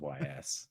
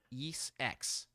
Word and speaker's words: Ys: Is that how you pronounce those? Yes. I said YS. YS Yes X Nordics.